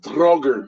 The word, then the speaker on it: draugr: A droger. How do you say it? Draugr.